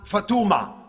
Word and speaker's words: Fatma: Fatma is usually pronounced Fatuma, and things like that.